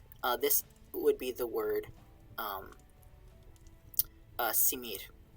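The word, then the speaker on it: smr: would be the word simir. S-M-R is what's written, and I think the vowels are simir.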